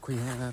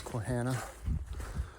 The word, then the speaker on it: Quehanna: day one it said I never know how to pronounce it quana quana whatever um I said it was taken from sasana part of the word sasana so I guess it's quana um but anyways yeah